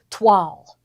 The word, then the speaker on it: toile: Okay, so this one is called toile. Toile. I had to say that word because I know how to pronounce it, and I was like showing off that I know how to pronounce toile.